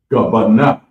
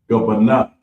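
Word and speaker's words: גבינה: Next up is cheese, and it's pronounced gabana, gabana, and it's spelled GABANAH.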